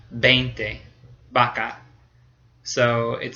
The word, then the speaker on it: vaca: So in Spain, it sounds exactly like a B, el violín, or vaca, V-A-C-A, is vaca. It sounds exactly like a B in Spain.